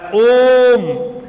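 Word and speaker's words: ओम्: समय खाता है यानी इस का शुद्ध उच्चारण जो होता है खींचके बोला जाता है ओम यानि या अकेले तीन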